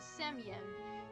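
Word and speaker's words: Semyon: it spelled like that that Russian letter which is the second to last letter of his name equates to sound yo on English other transliterated valuation include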